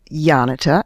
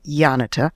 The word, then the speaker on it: Janita: Um her name is Yanita. It's spelled J A N I T A, but it's pronounced as if it were a Y. Yanita.